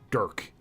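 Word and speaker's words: Dhurke: Oh, it's pronounced as Dirk. Okay, cool. The H is silent.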